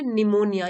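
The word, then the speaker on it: pneumonia: उसे हो गया निमोनिया निमोनिया में पी साइलेंट होता है इसको प्रोनाउंस नहीं करते हम बस इतना बोलते हैं निमोनिया यह इसकी स्पेलिंग है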